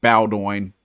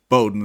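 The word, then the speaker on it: Bowdoin: saw it runs from Bowden which I couldn't pronounce I was calling it bowo Bowden that's how you pronounce it all the way out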